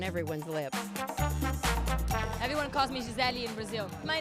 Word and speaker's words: Gisele: Because it's like in Brazil we say Michele, Gisele, you know, it's all with the E in the end, but for Americans it's hard to pronounce it, so I understand, it's fine.